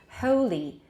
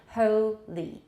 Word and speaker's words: holy: This vowel becomes considerably retracted before ul at the end of the syllable. You can observe the change by comparing words such as holy, where there's no syllable final L.